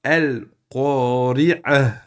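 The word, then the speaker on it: القارعة: Al-qari'ah. On le prononce exactement comme vous le voyez ici. Naturellement, si vous arrêtez dessus.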